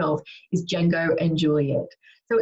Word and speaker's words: Django and Juliette: the fantastic and which I've checked the right pronunciation of is Django and Juliet so it's actually started by Carrie Monroe back